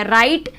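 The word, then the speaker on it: right: राइट, GH silent हो गया।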